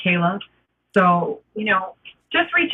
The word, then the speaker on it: Kaile: K A I L E is how you spell it and it's pronounced Kayla.